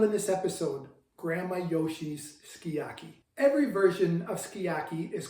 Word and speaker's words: sukiyaki: And again in the United States it's called sukiyaki. Uh the Japanese pronunciation is skiyaki and that's what we always refer to it in our family.